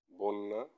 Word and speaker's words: বন্যা: যেমন অন্য অন্য, বন্যা বন্যা বন্যা। অর্থাৎ প্রথমে ব এর সাথে অ ছিল, সেটা ওকার হয়ে গেছে বন্যা।